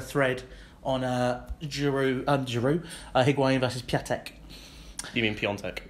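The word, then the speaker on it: Piątek: on Giroud, Higuain versus Piatek. You mean Piontek? Is it Piontek? It is Piontek. But there's no N. No, there is an accent on the A which makes it.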